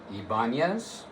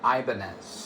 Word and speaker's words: Ibanez: This company can be pronounced both ways. Both pronunciations are correct. Ibanz and Ibanz.